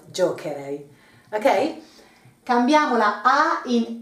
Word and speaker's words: giocherei: Otherwise it would be giocerei instead of giocherei.